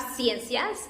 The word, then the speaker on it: ciencias: C, it's soft again. We have ciencias. In English, it's different because it has an S, but it's the same pronunciation, science. It's not like a K, but a S.